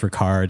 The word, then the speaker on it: Ricard: So instead, I looked up, and apparently, I think it's pronounced Ricard. It's like RICARD.